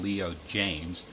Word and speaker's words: Leo Jaymz: a new brand for the channel it's called Leo James it's spelled j-a-y-m-z a bunch of products on Amazon